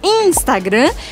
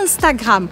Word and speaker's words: Instagram: Então, a gente não fala Instagram, a gente fala Instagram. Eu já expliquei diversas vezes pra vocês que IN ou IM en français, je dis Instagram.